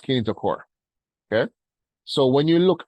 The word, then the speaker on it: kinetochore: I know it looks like it says kinetochore, but it's pronounced kinetochore, okay?